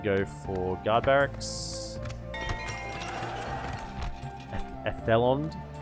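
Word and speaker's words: Edhellond: Edelond, yeah, we want to go for guard barracks. Ethelond. You don't pronounce the D.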